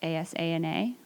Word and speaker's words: Asana: It's ASANA, like the yoga term, Asana, except we pronounce it a little differently.